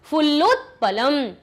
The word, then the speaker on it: फुल्लोत्पलम: तो यहाँ पर भी आप ऐसा ही कीजिए, कंबुग्रीवः, फुल्लोत यहाँ तक बोल दिया, पलम अलग बोल दिया, फुल्लोत्पलम हृदम उड्डीयते पक्त्वा, देखिए पक बोल दिया, त्वा बोल दिया, सही उच्चारण निकला। भक्षिष्यामि सुहृदाम भ्रष्टा आवाभ्याम अवलंब्य,